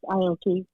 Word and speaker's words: Aoki: Yes, Aoki.